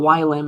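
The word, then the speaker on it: ylim: You like plots dot uh you know what I would like the y limits dot yim is how you say it to be like between 5 and 10.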